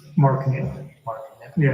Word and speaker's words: Knipp: Mark Knipp. Mark Knipp? Yeah, it's spelled Knipp, K-N-I-P-P.